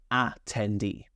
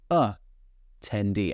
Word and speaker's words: attendee: Now, I don't say attendee. Actually, I say attendee. I'm being quite lazy.